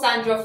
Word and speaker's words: Sahndra: man I'm your host Sandra and the H is silent today I'm going to